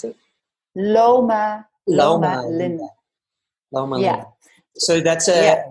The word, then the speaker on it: Loma Linda: And Loma Linda, is that how you pronounce it? Loma Linda.